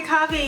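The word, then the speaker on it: Coffey: everyone my name is coffee yes pronounced like the drink and welcome back to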